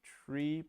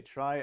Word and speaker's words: trie: a little more sense the rumor has it that it comes from retrieval and so you should say tree but trees is already taken so we say try i never really got